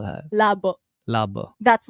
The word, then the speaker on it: labo: I actually am very labu. Is that how you say it? Labu. Labo. L A B O. So like lab.